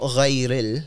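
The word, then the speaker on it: غير: I was saying not ghayril, ril. I was rolling an R, ghayril.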